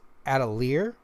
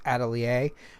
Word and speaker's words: Atelier: I thought it was Atelier, but then I found out this is a French word pronounced Atelier. I'm not sure if they pronounce it that way, but that's the correct pronunciation of the word.